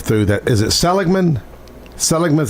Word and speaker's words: Seligman: part I drove through that is it Seligman Seligman is how you say it out of in Arizona.